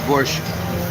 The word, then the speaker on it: borscht: It's borscht. I can't say it right. I'm American. Borscht. Without K in the end. Just borscht.